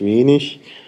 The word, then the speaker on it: wenig: Sachen, wo man zögert, die Endung IG zum Beispiel, Norddeutsches, Standarddeutsch, oder Standarddeutsch, norddeutscher Prägung ist eben ich, also König, wenig, und in Süddeutschland sagt